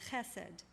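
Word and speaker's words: חסד: the Hebrew Scriptures is a word that is pronounced hesed which means it's sometimes translated as loving-kindness and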